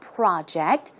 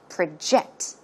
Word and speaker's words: project: In this case, the stress goes in the second syllable. As you can see, it's not project. When it's a verb, it should be project.